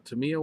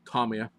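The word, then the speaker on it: Tomica: you must I mean must go buy the Tama one uh whoops Tomia pronouncing the name wrong you must go buy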